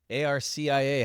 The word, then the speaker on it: Arcia: Cars, CNY, ARCIA. How do we pronounce that one? Arcia. Arcia. The Garcia without the G.